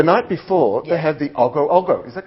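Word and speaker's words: Ogoh-ogoh: But before Nippy, the night before, they have the Ogo Ogo. Is that correct? Yeah. Ogo Ogo. Ogo Ogo. Ogo Ogo please, procession. an actual pronunciation, please.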